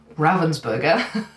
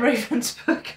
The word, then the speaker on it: Ravensburger: burger that I have sorry ravensberger I know it's pronounced ravensberger I even confirmed that with a German friend of mine but I keep saying Raven's book because that's what I'm used to saying so if I get